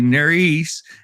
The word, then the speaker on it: Nerys: and like rehearsed, I said her name correctly, Nerys, but like when I look at it, it's Nerys.